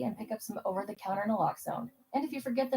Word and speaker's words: naloxone: For the record, it's naloxone. Na, like, is naloxone addictive? Nuh-uh. Lox, like naloxone keeps humans safe, like locks keep bikes safe. And own, like naloxone can save lives in our very own communities.